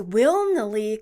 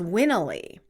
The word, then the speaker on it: Wilnely: In Spanish, I pronounce it the same way as it's spelled, Wilnely, Wilnely. In English, I omit the L because it sounds too close to will, so just Winnely.